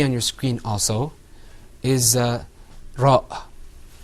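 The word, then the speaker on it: ر: This letter, which you can see on your screen also, is ra.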